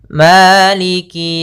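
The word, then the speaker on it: مالك: Pada lafal maliki buka fathah mulutnya. agar menyempurnakan fathahnya. Ma bukan ma tapi dia Maliki Maliki yaum Maliki yaumiddin. Kemudian pada lafal qi, maaf, maaf pada lafal qi ini jangan sampai malik yau. Misalnya begitu atau Malik yau. Ah ditekan enggak, tapi dia mengalir Maliki. Maliki maka maiki yaumiddin.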